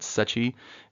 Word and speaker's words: Secchi: Sometimes people have a little trouble with that last name, but Secchi is the correct way to pronounce that. So I know we went